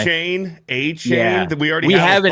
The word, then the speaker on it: Etienne: Apparently, we've been pronouncing his name wrong. He goes to New Orleans, where careers go to die. A-Chain.